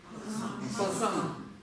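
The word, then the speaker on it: པ་སངས: Са, она всегда в высоком тоне. Вместе как это читается? Пасан.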